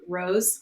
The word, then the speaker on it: Röse: And Rose, pronounced like the flower, but I just have the umlaut over the O.